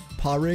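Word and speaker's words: Pádraig: Padreg. Yeah, there's no way that's how you do it. Pri is how you say it. Oh, wow. Yeah. No way. Why is the D silent?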